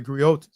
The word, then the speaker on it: griot: what is a gri and what is a griot uh it's Unique to West Africa the gri